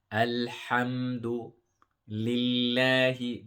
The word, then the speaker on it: الحمد لله: And the ha is a strong one, which is like a spicy. This is why I say to people, when you eat something spicy, you say ha, ha, ha. And this is the sound that we want. So al-ha, alhamdu lillahi. The word Allah here will